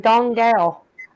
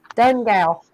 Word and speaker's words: Donegal: I couldn't pronounce it I was like dong gal done gal and he said Donegal don't don't go oh